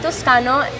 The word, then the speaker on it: Toscano: You search up Toscano. then just Toscano. It's from Italy, so it's not just how you pronounce it. It's roll off the back.